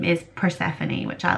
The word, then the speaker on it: Persephone: So yeah, Persephone Ophelia.